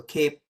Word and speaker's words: CAIPE: So cape like a superhero cape.